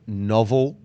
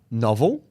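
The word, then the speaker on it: Knovel: Okay, the first one, I believe the company is called Novel Cam. K-N-O-V-E-L Cam. It's low dose. Wait, how the do you spell that? Novel, but it's the K is silent.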